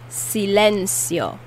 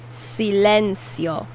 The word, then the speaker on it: silencio: say silence in spanish silencio silencio silencio the c in this word is pronounced like an s sometimes it's pronounced as